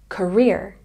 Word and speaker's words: career: teeth this this career has a stress on the second syllable career career career passionate has